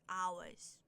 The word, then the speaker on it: hours: But what I want to say is when the H is silent, like hours, and sometimes herbs.